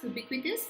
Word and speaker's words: ubiquitous: Ubiquitous, please learn this word. And also the article that we use with the word ubiquitous is a, not an. Okay, the pronunciation is with y in Hindi. Halo.